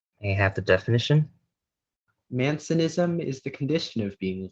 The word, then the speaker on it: mancinism: Your word is Mansonism. May I have the definition? Mansonism is the condition of being left-handed.